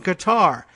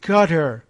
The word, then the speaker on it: Qatar: having a dispute with Qatar we're supposed to say Qatar Trump said mocking the pronunciation of the country's name by varying the syllabic emphasis it's Qatar they prefer